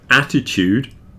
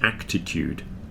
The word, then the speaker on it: attitude: Attitude begins A-T-T, not A-C-T. Everybody thinks this word is actitude.